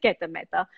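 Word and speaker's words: Gita Mehta: It is Geta Mehta.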